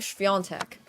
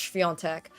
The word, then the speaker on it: Świątek: And I pronounce her name Świątek. And I've been trying to convince everybody that her name is pronounced Świątek. But then everyone's like, no, Świątek or something. And I'm like, it's Świątek. The A is like this N thing.